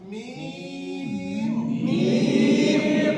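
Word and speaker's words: ميم: এই অক্ষরটা উচ্চারণ নিয়ম বলেছিলাম, দুই ঠোঁট থেকে হবে, আবার লম্বা হবে। মিম মিম, আর একটু বলেন, সকলে একসাথে বলেন, আবার বলেন।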